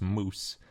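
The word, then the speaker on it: mjosi: in this area is called Stegosaurus moose and if you read it the moose part is spelled MJ o SI and that's named after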